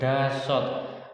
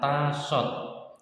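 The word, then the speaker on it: 다섯: teman-teman ya Hana Hana satu bukan Dahsyat ada beberapa orang yang membaca dahsyat tapi kata dahsyat itu dianggap kurang fasih dalam berbahasa Korea jadi yang tepat adalah tasot 5 yosot 6 teman-teman ya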